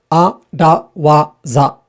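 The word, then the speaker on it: 荒技: And like this arawaza, a-da-wa-za. That's a 4-beat word where all of the vowels are a.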